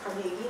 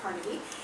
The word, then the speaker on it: Carnegie: I was told I should pronounce it Carnegie, not Carnegie.